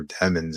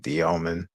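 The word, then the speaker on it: Demin: it was like Igor Demon's name. yeah, American shit. But I get it. Yeah. But he's Russian, so his last name's pronounced like Dioman.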